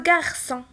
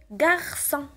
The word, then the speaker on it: garçon: Le garçon. هنا عندي O من مور سي وإلا كانت O من مور سي كنطقها ك. إذا هنا باش نطقها S خصني ندير très bien la CCD.